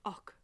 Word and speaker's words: och: Julius okay and it's it's like an OG there's almost a K sound och och you'll have heard Gallic speakers pronouncing that och och a sort of hard Gurkha hybrid Julius Julius och so